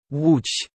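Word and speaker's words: Łódź: letters as well and people just don't know how to pronounce it wooch what what the no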